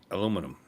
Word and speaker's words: aluminum: Oh, by the way, the correct pronunciation of aluminum aluminium is aluminum.